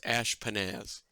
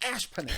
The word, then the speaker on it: Ashpenaz: The word is ashpenaz.